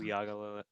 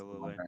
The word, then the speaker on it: Uiagalelei: Uyagalele. Yes, Uyagalele.